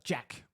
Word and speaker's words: GAC: And he talked about, uh, Jack. So he's not calling it GAC or growth at all costs. It's Jack. That's how he pronounced it.